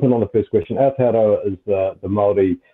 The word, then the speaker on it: Aotearoa: So I'm going to try to pronounce this again. Aotearoa. What is, am I pronouncing that correctly? Aotearoa? Aotearoa.